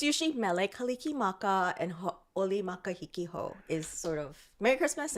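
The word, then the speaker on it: Hauʻoli Makahiki Hou: Ha'oli makahiki ho.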